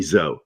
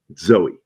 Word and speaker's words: Zoe: and don't call me zo she' get mad over that one don't call me zo Zoe I was so bad